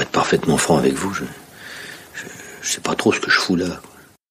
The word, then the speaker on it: je sais pas: Okay, so when you're just unsure, you could say je ne sais pas trop, je ne sais pas trop, but simply pronounced je sais pas trop, je sais pas trop.